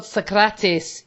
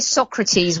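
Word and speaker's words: Sokratis: on it thank God socratis is back oh by the way everyone had to say his name properly thank you yes yes because when if I hear Socrates one more time I I'm a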